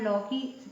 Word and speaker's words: लौकी: जैसे लो की, ये और ये लौ की, अब दोनों में से देखो कौन सा सही है ना। मात्रा दोनों में लगी और औ की, तो ये गलत होगा, ये सही होगा।